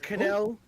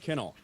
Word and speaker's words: Cannell: Cannell from Cannell. RK Outpost. Respectfully, Your Honor, it's pronounced Kinnell.